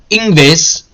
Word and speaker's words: Ingves: For the Riksbank governor, Stefan Ingves, that's how you pronounce that. I promise you, I know how to speak Swedish. Ingves.